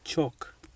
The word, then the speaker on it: chalk: L is silent in the word chalk.